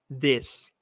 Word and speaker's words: this: primeira palavra aqui ó this percebe a diferença na pronúncia ó Isso é como se fosse um e disfarçado né this this pen this